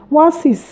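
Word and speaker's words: oasis: আমি শুধু বলেছি যে এখানে ওয়ান হলে সেক্ষেত্রে এ বসবে, কিন্তু যদি ওয়া সাউন্ড হয়, যেমন আমি একটি শব্দ লিখছি ওয়াসিস, ওকে, ওয়াসিস, এটা দেখতে ওয়ানের মতো লাগছে, ওয়া উচ্চারণ হচ্ছে এখানে ওয়াসিস, ওয়াসিস।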